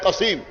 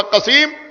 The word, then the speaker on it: قسیم: قاف سین یہ میم، ایک یہ ہے قسیم، دوسرے قسیم کے ہجے ہیں قاف صاد یہ میم، اس کا بھی تلفظ ہوگا قسیم، اس کا بھی تلفظ